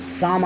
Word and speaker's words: psalm: Student आप देख रहे हैं यहाँ शुरू में P और S के बीच में कोई वावेल नहीं है। इस प्रकार से यहाँ पहला अक्षर P यहाँ साइलेंट है। पुनः आप देखिए स्टूडेंट, लास्ट में आप देखिए L और M के बीच में कोई वावेल नहीं है, इसलिए स्टूडेंट यहाँ पर L अक्षर साइलेंट हो गया।